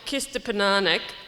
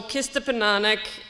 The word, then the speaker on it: Kistapinanihk: very much everyone um nice try on the pronunciation it's a difficult it's a difficult one um so our project kista pananic omakia mokochi the gathering place so kista penanic is the kree word for the gathering place